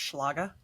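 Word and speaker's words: Schlage: myself out somehow so did you guys know that it's actually pronounced schlaga no I had no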